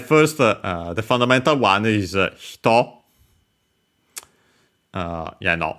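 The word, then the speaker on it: 人: Yeah, no, not the hito unaccented, which means person, with the kanji of person I've mentioned. Now we can see it again. This one, hito, technically on its own, accented on the last syllable, so there's also the difference in accent.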